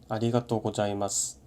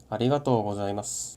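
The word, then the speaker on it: ありがとうございます: 예를 들어보면 아리가또 고자이마스, 아리가또 고자이마스, 똑같은 글자인데 전혀 다르게 들리죠. 위에 거는 한국어 읽듯이 일본어를 읽은 거고, 아래 거는 장음, Z 발음, 악센트까지 전부 지켜서 발음한 거예요.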